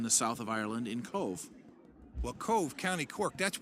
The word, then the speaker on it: Cobh: be Queenstown and then they changed it to Cove and you can find it's fine it's spelled Co ve Cobh it's just part of